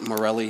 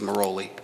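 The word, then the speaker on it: Merolli: That's how it's spelled, though people tend to pronounce it Morelli. His name is Moroli.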